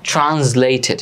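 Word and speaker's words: translated: করো হচ্ছে ট্রান্সলেট না এখানে হচ্ছে এই এস এর উচ্চারণটা জ এর মত হবে ট্রান্সলেটেড ট্রান্সলেটেড by Kaiser Haque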